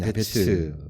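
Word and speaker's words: יַעְבֵּץ: 야베스, 영어 발음으로는 야베츠 이렇게 표현을 하고 있는데 그 뜻은 슬픔을 의미하고 있습니다.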